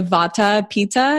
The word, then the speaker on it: Vata Pitta: I'm very much a Vata Pitta. Is that how you pronounce it?